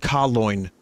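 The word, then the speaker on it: Kaleun: The term was made popular by Das Boot and is pronounced Kaloin.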